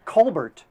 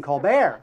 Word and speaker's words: Colbert: lvin now how about Steven Colbert who changed the pronunciation of his name to Steven colar but I think that's